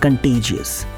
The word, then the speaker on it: contagious: इस वर्ड का सही प्रोनाउंसिएशन होता है कंटेजियस।